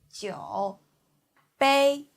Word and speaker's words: 酒杯: 酒杯鸡 U the third tongue 有鸡有酒波 A the first tongue 波 A 杯 So together it's 酒杯 Please repeat.